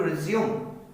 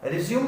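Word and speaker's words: résumé: Same spelling है RESUME का मतलब होता है रेज्यूमे। वहां पर ई पर एंड में RESUME के ऊपर एक छोटा सा माइनर साउंड लगता है जिसको बोला जाता है रेज्यूमे।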